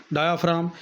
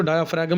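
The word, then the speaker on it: diaphragm: डायाफ्राम, ये बेटा एक मोटी मसल्स की तय है जो पसलियों के नीचे होती है। डायाफ्राम, इसको डायाफ्रैगम नहीं पढ़ना, ये जी इसमें साइलेंट है, जो कि सीने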